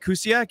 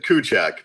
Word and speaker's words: Kuciak: uh I want to introduce kusiak is that is that connect pronunciation of your last name last name uh kuchak but yeah I I I I I'll hold it again it's it's polar so the spelling and pronunciation is very little to do with each other well welcome welcome